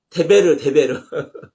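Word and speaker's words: דֶּבֶר: 아니 데레크가 아니라 데베르 데베르 다바르 그래요.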